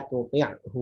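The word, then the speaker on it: تطعه: Nah, contohnya misalnya ada lafaz la tuti'hu wasjud waqtarib di surat akhir Al-Alaq. La tuti'hu wasjud waqtarib. Di situ antara ain dengan ha makhrajnya berdekatan.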